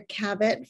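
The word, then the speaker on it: Kabot: ask my students to call me either Dr Cabot Farr Cabot like rabbit or Dr KF because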